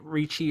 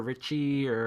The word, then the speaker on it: Ricci: Christina, I always say her name, Ricci or Richie Yeah, or Christina Ricci, they're all it's phenomenal cast.